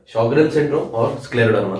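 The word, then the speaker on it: Sjögren: इसकी स्पेलिंग थोड़ी सी अजीब सी है, ये जे की जैसे नहीं, एच की जैसे प्रोनाउंस होता है।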